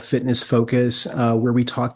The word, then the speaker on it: FTNSS: app Etc well uh so it's spelled Fitness ft NSS just like grinder is g r i ndr and uh you can